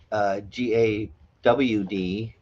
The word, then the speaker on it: God: It's pronounced GAWD, but it's spelt in the Bible God.